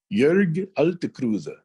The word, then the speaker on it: Jörg: Jörg, J-O-E. We make an umlaut, Ö, out of it.